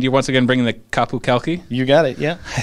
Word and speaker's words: Qapu Khalqi: And you're once again bringing the Qapu Khalqi.